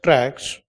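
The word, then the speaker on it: TRAHK: I shares based on MSCI indexes and T R A HK which is pronounced as tracks based on in your book you make a small correction.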